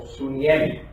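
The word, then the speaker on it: συνίημι: original es, en griego, se pronuncia algo así como suniemi, que viene de dos palabras, de sun, que es junto, y yemi, que es poner.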